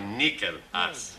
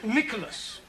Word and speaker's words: Nicholas: Once upon a time, there was a woman called Nickel Ass. It's pronounced Nicholas. It's all right.